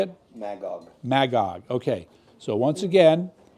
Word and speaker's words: Magog: Magog.